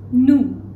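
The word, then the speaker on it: vous: V in French the plural v which is new new and the last Turin subject pronoun for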